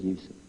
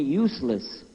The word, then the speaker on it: Yusuf: my name is Yousef did you say Yousef you said Yousef you're very good I wish you teach my wife she keeps mispronouncing it she calls me useless alhamdulillah now how many of you were in